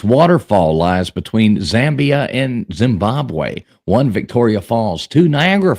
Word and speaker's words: Zimbabwe: boy and you don't pronounce things right it's pronounced Zimbabwe Zimbabwe Zimbabwe um yeah there you go 80% of